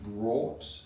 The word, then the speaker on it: brought: It's bring or that's the vowel sound you need in brought. Is it how you pronounce it in Northern Ireland?